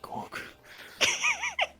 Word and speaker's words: Gork: Some of us believes in Gork. Others believe in Morg. Your gods rhyme with orc.